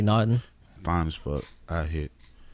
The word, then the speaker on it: Naughton: Naturi Nottington. Naughton. Yeah, Naturi Naughton.